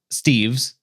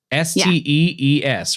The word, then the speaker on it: Stees: It's A I thought it was Kevin Steves. Oh god, I hope I didn't misspell that somewhere. I will have to look, but it is Stees, S T E E S at JMU.